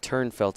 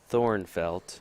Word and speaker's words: Thornfelt: It's actually Thornfelt. No, it's not. It's Turnfelt. Is that how it's said? Yes, trust me. Turnfelt? Yes. It's spelled Thornfelt, right? Yes, but it's really pronounced, and I think it's just easier for Americans to do that.